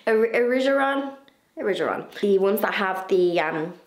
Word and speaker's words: Erigeron: And I want to plant some of those plants that, remember, I bought in last week's video, the Erigeron. That's not how you say it. Erigeron.